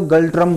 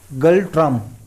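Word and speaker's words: Ngultrum: इसका है N silent है तो गल्ट्रम बोलते हैं इसको। ठीक है, गल्ट्रम।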